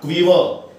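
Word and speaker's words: quiver: शिवर कंपना, tremble कंपना, क्वीवर, क्वीवर का मतलब भी कंपना. इसके उच्चारण के ना व साउंड आती है, व, क्वी, क्वीवर.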